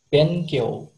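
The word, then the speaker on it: 勉強: bacanya benkyo.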